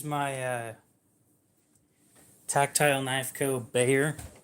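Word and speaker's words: Bexar: so this is my uh tactile knife Cod Bayer it's spelled b x a r but it's pronouned Bayer it's pronounced Bayer so it's got Magna cut blade steel and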